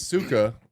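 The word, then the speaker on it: сука: if he yeah he if he says Suka that's how you pronounce it he saying sucker suck sucker sucker sucker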